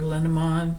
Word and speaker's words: Lenormand: Oh, and if anybody's wondering which deck this is, it's the Golden Dreams Lenormand, or Lenormand is actually the correct pronunciation.